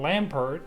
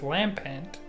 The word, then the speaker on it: Lampent: so this entire time I've been calling this Pokemon Lampert but it's Lampent shout out to everybody